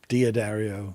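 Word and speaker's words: D'Addario: If it's D apostrophe, you say D and then the rest of the word. So Diaquisto, Diodario.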